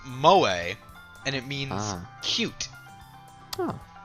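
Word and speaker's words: 萌え: It's exceedingly Mo. Like Mo from The Simpsons. Like Mo from Wall-E. Okay. You know, the cleaner so- robot? So I looked this up, and that word is apparently pronounced moe, and it means cute.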